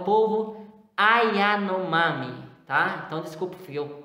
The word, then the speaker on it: Yanomami: então é o povo yanomami tá então desculpa fui eu desculpa eu falei ai anomar mas é ai a nome então são línguas que